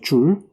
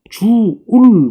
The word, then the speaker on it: 줄: 줄이라고 하는 단위를 써요. 줄. 옛날에는 뭐예요? 주울 뭐 이렇게 얘기하기도 했는데요. 옛날 표현 방법이고 요즘은 뭐라고요? 줄, 뭐 이렇게 간단하게 이야기를 합니다.